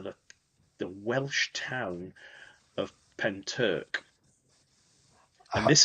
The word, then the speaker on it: Pentyrch: So, I didn't know how to pronounce Penturk um because it's got a really weird spelling with a Y, but it's it's called Penturk and it's a village